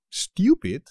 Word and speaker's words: estúpido: una expresión great estupendo estúpido estúpido cuidado con el acento chaval es estúpido este es visto pues